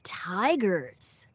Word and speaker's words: tigers: Không phải là chai mà là thai nhá. Con đọc giống kiểu thai ấy.